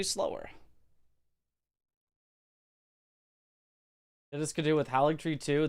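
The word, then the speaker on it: Haligtree: This could do with haligree, too. The G and Halig old English is pronounced like Y, so it should be hali tree, meaning holy tree.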